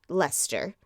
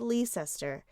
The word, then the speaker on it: Leicester: By the way, I watched multiple YouTube videos on how to pronounce Leicester in North Carolina. It is spelled Leicester, and it's pronounced Leicester.